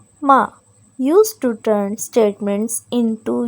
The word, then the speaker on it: 吗: Both of them are pronounced in neutral tone.